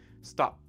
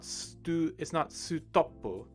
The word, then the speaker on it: stop: We don't want that U sound at the end. We just want the P, stop, right? We also have the S and the T consonant sounds at the beginning, which smush together. It's not sutopu, right? It's not sutopu. It's stop.